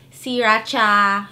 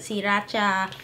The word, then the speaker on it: Sriracha: Technically, it's pronounced Sriracha in Thai with the accent. That's how my mom says it, Sriracha. But yeah, Sriracha.